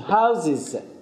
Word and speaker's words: houses: ببینید دیگه ز تلفظ میشه، houses houses houses houses.